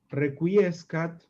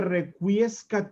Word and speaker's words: requiescat: Este requiescat in pace, pronunciado así en latín clásico, pero deformado en el latín macarrónico en requiesca in pace, ¿no?